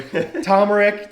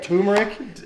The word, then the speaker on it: turmeric: the van overtime not even knowing how to pronounce his name really tomric turmeric turmeric yeah is that turmeric on there hey